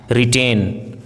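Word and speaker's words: written: है जैसे रंग right रिटेन रिस्ट ring wrinkle Regal wrestler rapper in सभी वर्ड्स में डब्लू आर साथ में है इसीलिए यहां पे डब्लू का उच्चारण साइलेंट है आज की क्लास में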